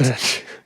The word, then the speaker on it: Knesset: The bill passed in the Knesset 62 to 48. What a word I hate saying, Knesset. Knesset. Good god, am I saying it right? That's how you say it.